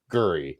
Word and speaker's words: Calgary: the same thing with calgary because it's guri not cal gary like it's not yeah